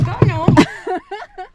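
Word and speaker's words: gunwale: It's spelled nothing like it sounds. Well, it starts out like it sounds. It's like gun whale. Yes. That's how it's spelled, is gun whale.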